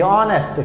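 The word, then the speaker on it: honest: से दिख रहा होगा, एच ओ एन ई एस टी, ऑनेस्ट। क्या है, ऑनेस्ट। इसकी अगर आप प्रोनाउंसिएशन सुनते हैं तो इसकी जो साउंड निकल के आती है, जो ध्वनि निकल के आती है, वो होती है अ।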